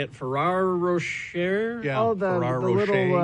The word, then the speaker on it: Ferrero Rocher: Ferrero Rocher.